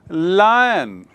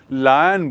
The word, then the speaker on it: lion: Similarly लायन, लायन मतलब Singh, लायन माने Singh, LION, लायन, लायन यानी सिंह। उच्चारण देखिए, लायन बोलते हैं, उसको कई लोग लॉयन बोलते हैं, वो गलत है, ये लायन है।